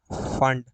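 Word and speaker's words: Pfund: है ब्रैकेट, और पांचवी फंड। इसको पी आगे लिखा जाता है, बट पी जो है वो पढ़ा नहीं जाता है, साइलेंट होता है, इसको बोलते हैं फंड सीरीज।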